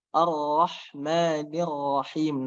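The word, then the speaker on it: الرحمن الرحيم: Cuman saya ulang lagi, ro-nya, ro tebal dan dia tidak menggunakan bibir. Ar-Rahmanir-Rahim. Nah, kemudian ada Ar-Rahmani. Nah, ini di situ harokatnya kasroh. Kemudian ada ro bertasdid. Maka kedua-dua ro yang ada pada ro bertasdid ini dibaca tebal ya.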